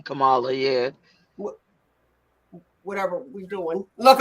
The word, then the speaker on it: Kamala: Kamala, but it's actually Kamala.